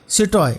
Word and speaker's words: citoyen: हैं, तो वहाँ पे सिटॉय और सिटॉइन यानी कि सिटीजन यानी कि mail सिटीजन female सिटीजन। Spelling ध्यान रखिएगा, सिटॉय यानी कि CITOYEN, एन थोड़ा साइलेंट है।